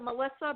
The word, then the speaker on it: Melisa: It's still like Melissa, but it only has the one S.